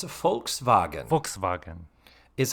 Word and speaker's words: Volkswagen: misprononunciation right it is vulk wagon and and in German I am told that the v is pronounced more like an f so that's so it's a folkvagen folkvagen is how you say